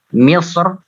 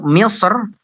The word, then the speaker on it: مصر: Misr, tafkhim ya. Untuk Misr, Ibnul Jazari ini membacanya dengan tafkhim.